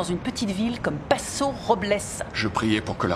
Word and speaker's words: Robles: je vais à paso robles on appelle cette ville paso dobles la prononciation adéquate et robles mais tout le monde dit rob hulse si au volley j'espère